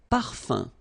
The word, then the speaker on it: parfum: So remember, even if you've got this UM like that, phonetically it's exactly the same thing as if you would have UN. So it's nasal and it's un. So it really goes in your nose. You don't pronounce the M at all.